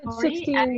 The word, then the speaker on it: Sixtine: Sixtine, if I'm pronouncing your name well, maybe you can go next. It's 16, but don't worry, like it's a complicated name, so I'm used to it.